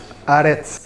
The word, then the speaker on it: Aretz: Aretz. Aretz. On roule le R, on est d'accord?